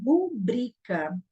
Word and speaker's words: rubrica: É só que a pronúncia correta dessa palavra é rubrica. Então, ela é uma paroxítona, ó.